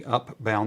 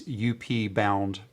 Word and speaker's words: Upbound: again over on the Upbound. That's UP Bound, BOUND. Did I spell that right? Yeah, I did. Not Outbound. Upbound.